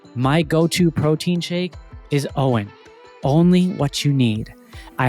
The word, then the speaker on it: OWYN: Owen brings together the essential elements of advanced nutrition, amazingly clean ingredients, functional superiority, and uncompromised taste.